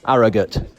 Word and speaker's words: Harrogate: ride the other day, gave us the correct pronunciation. Let's just hear what it is. Harrogate.